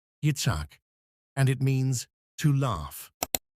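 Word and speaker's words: יִצְחָק: Did you know Ishaq is a Hebrew name and pronounced as Yitzhak, and it means to laugh?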